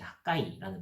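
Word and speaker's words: חַגַּי: 이 학개 선지자의 이름은 이제 원래 히브리어로 정확하게는 이제 학가이라는 발음에 더 가까운데, 이는 절기를 의미하는 하그에서 파생된 단어입니다.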